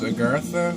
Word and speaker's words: Agartha: I think the next song is Agartha, that's how it's pronounced.